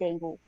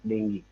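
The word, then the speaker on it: dengue: work oh but uh Sly he suffered from dangu so we don't say dangu the pronunciation in English is not dangu you know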